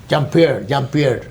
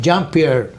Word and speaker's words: Jean-Pierre: Jean-Pierre. Sí. Yo lo pronuncié tal como se escribía, pero usted que es un traductor, pero bueno. Entonces, Catherine Jean-Pierre, aprendí ya, Danilo, Sí, la pronunciación.